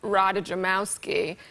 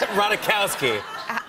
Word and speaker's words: Ratajkowski: At one point, I was standing between Kendall Jenner and Emily Radajamowski. - Ratajkowski. The J is silent. -It doesn't -- It doesn't matter. -You were by Emily Ratajkowski, yeah.